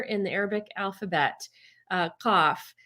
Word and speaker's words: qaf: There's one letter in the Arabic alphabet, qaf, which standardly pronounced ka, which we don't have in English, could Right. be in the Gulf Arab countries ga with like a G. But if you went to certain parts of Egypt, it's not even pronounced at all.